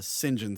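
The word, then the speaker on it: St John: It's a John uh Singen Smi, but it's spelled St. John Smith.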